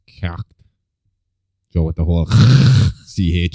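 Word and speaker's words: Cécht: I would assume it's Kecht. Joe, with the whole CH shit that we did. Like Irish, the CHs are pronounced like right down at the back of your throat.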